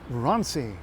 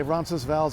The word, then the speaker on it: Roncesvalles: Okay, it doesn't really have two silent syllables. If we're gonna say it full, we'll say Roncesvalles or Roncesvalles, but most people prefer not to. It's named after a place in Spain called Roncesvalles.